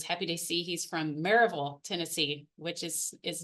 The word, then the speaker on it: Maryville: to see he's from marville Tennessee which is is not spelled like it's it's smelled like Maryville but it's definitely not pronounced that way in the South so um it's nice